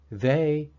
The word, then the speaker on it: they: But for now, think of the EY sound as a short E and a short I merged together.